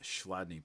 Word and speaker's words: Chladni: Okay, this is a video on Schladney plates was how this is uh pronounced.